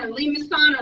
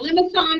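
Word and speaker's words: limaçon: You got your line, of course, your circle, your rows, meniscus, and limacon or limacon, depending on how you want to pronounce that, cardioid, and the spiral.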